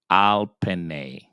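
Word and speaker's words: עַל פְּנֵי: So the word is going to be pronounced al penne. Al penne.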